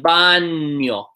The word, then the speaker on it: baño: This one is pronounced kind of like an N-Y. Nia. So like baño, right? Baño. Baño. It's kind of like baño. Baño.